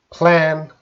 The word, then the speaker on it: plan: confusion is pronunciation and we were talking about the magic e let's see just three words and you could see the pronunciation band man can ban all right so the vowel sound man can ban and then we have the magic e we're going to change it from short to long vowel sound to main